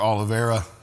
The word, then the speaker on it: Oliveira: Guys, we're here with Tyler Oliveira. Did I pronounce that right?